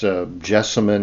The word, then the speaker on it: Gelsemium: It's jessimon is actually the way it should be pronounced.